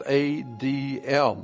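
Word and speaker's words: אדם: The letter was adm we humans added make it to be Adam. But it's not Adam. It's ADM.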